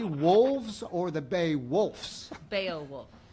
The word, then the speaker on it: Beowulf: or the bay wolf's Beowulf is an extra syllable well if you got